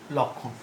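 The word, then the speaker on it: লক্ষ্মণ: উচ্চারণ কি? দেখো লক্ষণ বানান কখনো ভুল করবে না, শুধু ক্ষীয় দিয়ে লিখলে কিন্তু ভুল হবে, ক্ষীয়র সঙ্গে ম যুক্ত হবে। তাহলে লক্ষণ, উচ্চারণটা কি? উচ্চারণটা হচ্ছে লক্ষণ।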